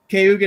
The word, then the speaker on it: Cayuga: Is that how it's Oh, pronounced? remember? Oh, Look. Okay, you it's good? close. Cayuga Nation.